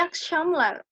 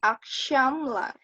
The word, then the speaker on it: akşamlar: Kemudian ada iyi akşamlar. Akşamlar. Nah, itu ada ş. Jadi bacanya iyi akşamlar. Jadi bukan iyi akşamlar ya, tapi akşamlar. Jadi akşamlar, iyi akşamlar kayak gitu.